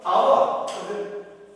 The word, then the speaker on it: hour: We hear our. In Telugu we can say this is our, not our. Not our. Not our. Our. H is silent. So, and we pronounce like O sound.